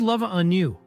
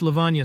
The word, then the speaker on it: Levana: Who's Lava on you?" I fumbled while opening the envelope. "It's Levana, sir," he corrected my pronunciation.